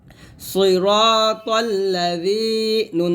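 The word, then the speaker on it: صراط الذين: এখানে জি বলি, এই দালের উচ্চারণটা যখন করবেন জিহ্বাটা উপরে দাঁতের আগায় লাগিয়ে পাতলা করে উচ্চারণ করতে হবে। সিরাতাল্লাযী, নুন জবর না, সিরাতাল্লাযীনা।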